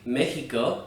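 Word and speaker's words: México: in certain words like mexico which means mexico it's pronounced like a letter h would be in english however in other contexts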